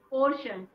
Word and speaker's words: portion: This is also pronounced as shun and not sun, shun.